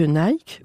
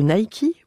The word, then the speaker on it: Nike: auditeurs bonjour savez-vous que Nike ou plutôt Nike prononcé à l'américaine vient de livrer son